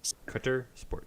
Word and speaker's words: Cuttersport: Cutter Sport. Cutters. That's how you pronounce it.